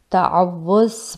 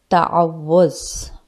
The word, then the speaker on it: تعوذ: آپ دیکھ سکتے ہیں واؤ کے اوپر شد ہے، تعوذ۔ اکثر لوگ اسے تعوذ پڑھتے ہیں جو کہ غلط پروننسیشن ہے۔ اس کا اصل تلفظ ہے، اس کی اصل پروننسیشن ہے تعوذ، تعوذ۔ آج کی اس ویڈیو